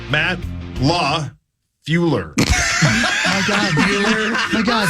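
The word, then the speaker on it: LaFleur: be coaching the P it's just crazy that you literally skip a letter how do you say it I I don't want to tell you I'm afraid of you're saying it the way you say it again Matt Law flure oh man so close how do you say it there's an L in the middle Matt Law fueler my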